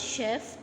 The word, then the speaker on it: chef: The word chef comes from French. You pronounce C H as sh. Okay.